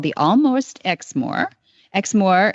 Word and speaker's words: Exmoor: called The Almost xmore Exmore is spelled e ex m o o r like the Moors yeah absolutely the there's